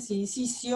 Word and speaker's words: sincitio: Se dice sincicio, aunque se escribe sincitio.